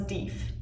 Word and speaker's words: Deaf: deep smith that apparently is how you would pronounce his name so while he was deaf his nickname was dief now um he ended up checking out texas in 1817.